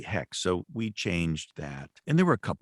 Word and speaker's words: Xhex: uh hex for instance which is spelled xhex which I pronounced earlier in some novels Zex she said no it's really hex so we changed that